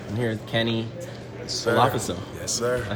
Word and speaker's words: Olafeso: Olafeso.